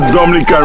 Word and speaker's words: Dominica: n i c e it is not Dominican Republic it is pronounced Dominica and it's situated between